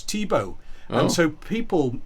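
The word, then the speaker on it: Thibeaux: was uh um a a French or Creole name Tebow spelled t h i b e a u x Tebow and so people mispronounced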